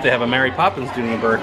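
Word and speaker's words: Dooney & Bourke: So we got a new arrival, Dooney and Burke.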